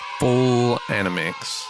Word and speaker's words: FullAnimics: have full anim an how do you pronounce that animix full animix full animix I guess